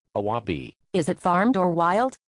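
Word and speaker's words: あわび: What is its Japanese pronounce? Awabi.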